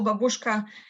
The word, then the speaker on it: babushka: And why babushka or babushka, as it's pronounced here.